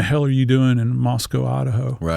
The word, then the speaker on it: Moscow: to pronounce Moscow, not Moscow. They take exception of that. So, you have to think Costco.